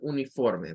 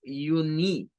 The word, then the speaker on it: uniform: La primera es la U, solita. Entonces suena a you. Ya decíamos la U con el sonido de la Y o de esa J al principio, you. Luego la N con la I suena a un schwa, una, una. Y luego form, no es uni. Si usted dice ni, está pronunciando esto como I y no es I. Es uniform, uniform.